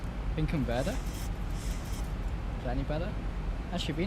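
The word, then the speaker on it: Finkenwerder: W's are pronounced B's in German. So it's Binkenwerder.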